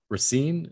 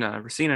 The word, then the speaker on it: Racine: bluer in kenosha uh assembly district 64 between racine is how you pronounce it between racina and kenosha yeah between racine and kenosha this